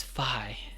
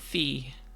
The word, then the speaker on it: Fi: I want you to know that the correct pronunciation of my name is Fi and not Fee. And this is important because everybody is going to mispronounce it for years to come. They don't understand that even though WiFi is pronounced wifi, that somehow taking out the Y would make it a wify.